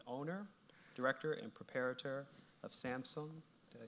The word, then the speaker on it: Samsøñ: He is currently the owner, director, and preparator of Samsøñ. Did I say it correctly? Samsøñ. Samsøñ, formerly Samson Projects, founded in 2004.